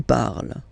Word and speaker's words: parles: So you've got the two first forms, you pronounce them the same way. You write them differently, of course, because you've got here, and then you've got and s, okay? But then phonetically, they are the same.